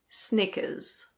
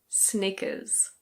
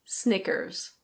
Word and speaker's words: Snickers: In British English this is Snickers. Snickers. It's like knickers with an S at the beginning. In American English the R is pronounced, so it's Snickers.